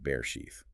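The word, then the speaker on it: בראשית: We're embarking on a deep dive into day two, the day of the airtight seal from the book of Bray sheath. And that's pronounced bear sheath.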